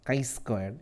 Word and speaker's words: chi-squared: Even though we write CHI, we pronounce chi-squared. It's kind of like KI, chi-square distribution.